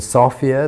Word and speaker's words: Sofia: Our first day will be in Sofia. That's what they call it, not Sofia. I always thought it was Sophia, but it's pronounced Sofia.